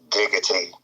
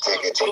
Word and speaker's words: diggity: When you say No Diddy though, you gotta say it like the Backstreet song, like No Diddy. it's diggity. Like digital, but diggity.